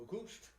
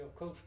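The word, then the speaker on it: oocyst: The way it's, way it goes from bird to bird, there's it's an egg, O-O-C-U-S-T. Pronounce that one, Auguste.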